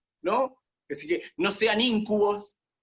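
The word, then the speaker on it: íncubo: Con acento en la I, ese esdrújula. Es una esdrújula, muy bien.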